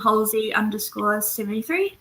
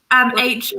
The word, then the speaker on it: Halsey: And I also have an Instagram page called Halsey_73, and I post a lot of stuff there. Nice. Cool. Sweet. Will follow. How do you spell that? Like Halsey, like HOLZIE. Okay. Put an S in there.